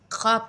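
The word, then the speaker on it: خواب: आपको दूं, तो हम ख्वाब में हम वाव लिखते हैं, उर्दू वर्ड में हम वाव लिखते हैं, लेकिन पढ़ते टाइम हम ख्वाब पढ़ते हैं, वाव को हम उतना ज़्यादा ज़ोर देकर नहीं पढ़ते, तो ये हो गया साइलेंट वर्ड।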